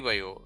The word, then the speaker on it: Vaio: The pronunciation is similar to bio, which is symbolic of life, and the product's future evolution. And additionally, the Sony Vaio logo is stylized to